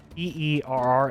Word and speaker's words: Para: How do you spell that? Her first name is Para, Peerra, and it's Thava, Thava.